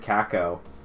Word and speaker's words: cacao: But this is Trogs Grand Cacao. Cocoa? I mean, it's not cocoa, it's cacao. I guess that's how you pronounce it.